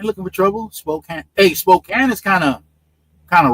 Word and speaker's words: Spokane: Spokane, right? That's how they pronounce it. I used to Yeah, Spokane. Yeah. I you I used to pronounce it spokane as a youth, but I guess that's a violation, right? In Washington state, right? It's Spokane. Yeah. Yeah. Yeah. No, as a youth, I used to pronounce it Spokane. And and and then I discovered that Washingtonians, they don't like that.